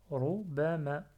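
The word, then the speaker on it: ربما: Si j'ai pas l'alif à la fin, je prononce pas. Je dis Rubama. Rubama.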